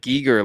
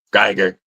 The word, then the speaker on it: Giger: oh I know yeah you might be saying it right I just I just I'm used to saying gerer yeah if you know